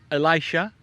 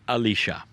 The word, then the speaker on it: Elisha: And that man has a name, and it's pronounced many ways. In some cultures it is Elisha, in some it is Elisha.